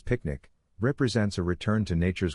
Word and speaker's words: PQNK: Peter kinam kadak kiari pronounced as picnic represents a return to